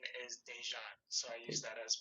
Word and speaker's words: Dejan: first name is uh middle name is dejan so i use that as my artist name